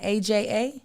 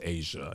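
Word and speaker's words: A'ja: It's not AJA? It's pronounced Asia.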